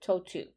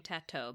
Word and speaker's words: Tautou: So the first, like T-O-E, toe, and two, T-O-O. That's how you pronounce it, Tautou. I'm probably going to continue saying tattoo because Tautou and that's fine.